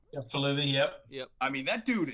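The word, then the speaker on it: Faalele: I mean, the one thing too, and there's that other guy that keeps going out there, Daniel Falili, I think is how he pronounces his last name. Yeah, Falili, yep.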